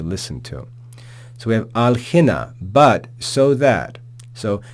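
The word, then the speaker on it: ἀλλ’ ἵνα: because the following word begins with an aspirated vowel, hina. So to say alla hina is sort of messy. And so they just drop that final alpha and say alhina, which is easier to pronounce.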